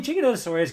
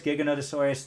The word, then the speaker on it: Giganotosaurus: I mean, Giganotosaurus, Giganotosaurus, for me, it could be pronounced both ways. It's like Diplodocus and Diplodocus, you know?